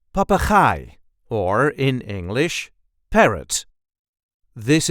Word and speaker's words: papegaai: see how to pronounce papai or in English parrot. This is the way we say papai. Papa there is a light emphasis on the last syllable.